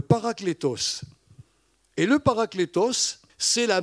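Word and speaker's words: παράκλητος: En réalité, c'est un mot qui se prononce en grec, le paraklétos.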